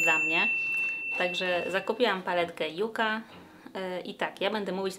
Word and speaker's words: Yucca: Natomiast w samych spotach marketingowych Natasza mówi to jako Yuka, plus wydaje mi się, że po polsku my też na tą roślinę mówimy Yuka. Dajcie mi znać, jeżeli jest inaczej, natomiast ja zawsze pamiętam wymowę Yuka, przez J oczywiście i K po polsku.